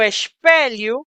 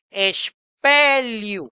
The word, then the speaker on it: espelho: A sanita, el excusado, un lavatorio, el lavamanos, o espelho, Recordemos que el sonido de la L con la letra H, con la H, tiene un sonido específico del portugués, li, espelho, el espejo, o duche, la ducha o la regadera.